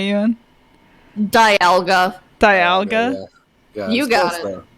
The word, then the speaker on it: Dialga: by Arceus to live in the Distortion world Diagla and uh Palkia did I not pronounce that right Ewan Dialga Dialga you guys all right Dialga and Palkia